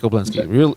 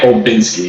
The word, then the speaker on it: Olbinski: But is real easy, and then it's OLBINSKI, Olbinski, real easy to do that. It's actually Olbinski.